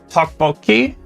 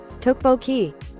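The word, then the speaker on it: 떡볶이: Tteokbokki. Tteokbokki. Wait, is it said monotone like that? Tteokbokki. There's no enunciation in any of those syllables.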